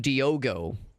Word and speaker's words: Diogo: I thought his name was Diego. He's calling him Diogo.